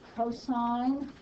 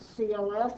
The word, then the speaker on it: cosine: pronounced sine c-o-s-i-n is cosine it is abbreviated cos it is never to be pronounced cos and this one is